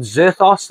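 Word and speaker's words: Vzerthos: It's called Zerthos, the Heir of Thunder. At least I'm thinking it's Zerthos. It's got a V-Z-E-R-T-H-O-S. I'm pretty sure the V is silent, unless it's the Zerthos, which is nearly impossible.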